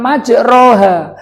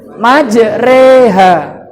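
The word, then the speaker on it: مجراها: Tapi kalau kamu sudah belajar gorib, bacanya bukan majroha, tapi yang benar apa? Majreha.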